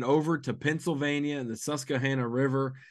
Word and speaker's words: Susquehanna: to Pennsylvania in the susah Hanah River I don't want to pronounce the Q too much we'll have to get